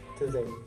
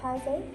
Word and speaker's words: Taizé: Taizé.